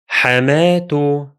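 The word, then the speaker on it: حماة: Now let me add a case ending and pronounce them again. I'll give both words a single dhamma. The first one becomes حماتو حماتو حماتو, while the second one becomes حماه حماه حماه.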